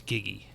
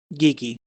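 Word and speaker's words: Giggi: says my name is giggy G giggy is that giggy G Kiki Kiki uh G like g i g g i GI can you spell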